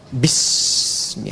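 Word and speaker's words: بِاسْمِ: Itulah sebabnya ketika walaupun di sini ada alifnya, tetap dibacanya cepat dan pendek. Iqra bismi rabbik.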